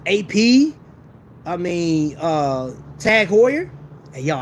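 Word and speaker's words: Heuer: tag Hoyer hey y'all I said Hoyer right I don't know why I kept saying tag Howard it felt more comfortable to say tag Howard I don't know but tag Hoyer I said it right the first time tag horer and that's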